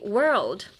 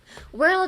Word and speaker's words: world: Hi, 次, world. World is also hard. World. I feel like everything with an O-R or A-R is hard. World. Pretend you're brushing your teeth and you don't want to swallow your spit.